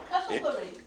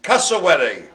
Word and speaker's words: cassowary: Castleberry. Cassowary. Oh, Castleberry. No, cassowary.